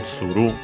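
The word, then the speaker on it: 蔓: Accent on the last syllable, tsuru.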